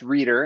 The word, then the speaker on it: Rueter: well first of all the last name is pronounced reader and we're here we